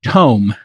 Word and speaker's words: Tome: Paris he is the CEO and co-founder of tome t-o-m-e I'm pronouncing it correctly Keith yes exactly all right